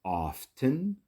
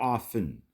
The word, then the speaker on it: often: 60 to 70% of the time often I often visit my grandparents on weekends you can pronounce it often or often where the tea is silent whatever feels right to